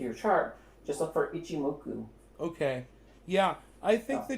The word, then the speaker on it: Ichimoku: say that again we it's called ichimoku itchy muku yeah there's so many